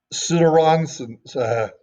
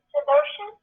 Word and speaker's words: Sudarshan: Sudaranson, S-U-D. You can call it, but it's actually Sudarshan.